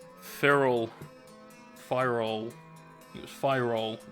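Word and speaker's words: Pyrrole: fire all it was fire all is the correct pronunciation someone gave me they fire all red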